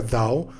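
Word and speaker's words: 道: el nombre al libro se pronuncia dado lo escribo como está o porque así se escribe y significa también camino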